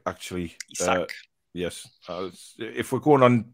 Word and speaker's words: Isak: It's Isak, actually. Isak. Yes, if we're going on proper name pronunciation, Alex, which you made a big point